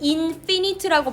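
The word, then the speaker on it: infinite: 파이나이트라고 발음하고 인이 붙으면 인피니트라고 발음되죠. 발음이 달라지는데이 파이나이트는 무한이 아니라 유한한 인피니티가 무한한 유한하고 그리고 뭔가 늘어나는 그런 경계를 가진 우주를 우리는 상상하려고 한다는 거죠.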